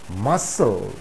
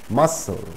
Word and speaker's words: muscle: exception in the word muscle muscle the sea is silent muscle there is no pronunciation of the letter c though here c comes